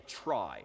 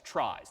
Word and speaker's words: trie: So this is a data structure called a trie, T-R-I-E, which is inherited from the word retrieval, which is not pronounced retrieval, but that's what the world calls these things, tries, T-R-I-E.